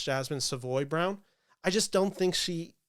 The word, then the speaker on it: Jasmine Savoy Brown: I just don't think Jasmine Savory uh round sorry I keep mispronouncing that name it's Jasmine Savoy Brown I just don't think